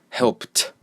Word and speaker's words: helped: And P, so help, help, helped, helped. Okay, so you just say help and then T, helped, helped.